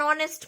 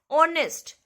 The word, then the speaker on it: honest: like vowels and r starting with consonant but the sound is of vowel r r okay an honest man an honor okay